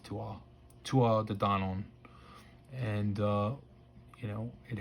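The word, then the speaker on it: Tuatha Dé Danann: donan which it's spelled to arthur but it's pronounced tua tua the don on and uh you know it has uh king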